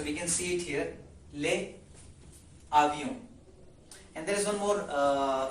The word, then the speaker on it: les avions: it with comfort, and when we make link between these two, the consonant and vowel, it becomes a pronunciation or a sound as les avions, which means aeroplanes.